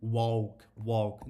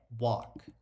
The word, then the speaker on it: walk: E tem muita gente que comete o erro de pronunciar walk com som de U, walk. Não é, gente, é walk.